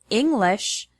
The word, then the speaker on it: English: For example, the word English has the stress on the first syllable, ing.